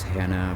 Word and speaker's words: Hana: He has to sneak around a giant whose name is Hana, Hana. It could be pronounced as Hannah, but to me Hana sounds more fantastical, so that's how I pronounce it in my head.